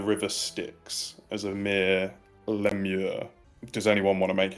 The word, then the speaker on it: lemure: It's pronounced Lemure, but I will make a history check on what they might be as for character. For my character. In your world, they may be pronounced lemures, but for that, you